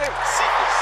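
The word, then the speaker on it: Cephus: Secrets. How you spell that?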